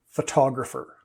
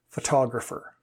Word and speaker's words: photographer: er the shift sorry the stress gets pulled gets shifted towards the end of the word okay so photograph but the person who does it is a photographer now take a look